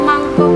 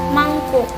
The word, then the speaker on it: mangkuk: Banyak orang sering mengucapkan mangkok dalam kehidupan sehari-harinya. Akan tetapi, pengucapan tersebut keliru. Seharusnya, pengucapan yang benar adalah mangkuk.